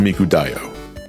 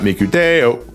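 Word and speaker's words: Miku Dayo: What is so I'm pretty sure this is pronounced Miku Dio. Yes, it's not Miku Deo.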